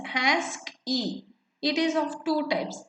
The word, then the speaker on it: ASCII: and in also mainframes the ascii code pronounced as ask e it is of two